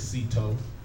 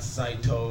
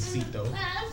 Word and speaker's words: Citoe: My name is Cito. Not Saito or none of that. When people see me on social media, they see me in public. It's Cito. just to pronounce it. C-I-T-O-E.